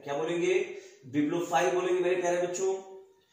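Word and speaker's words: bibliophile: देखिएगा मैं क्या बोल रहा हूं, बिब्लोफाइल, बी आई बी, क्या बी आई बी, ध्यान रहे मैं स्पेलिंग बहुत ध्यान से आप लोगों को बताता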